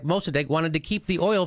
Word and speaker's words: Mossadegh: First democracy, and Mossadegh is how you say it.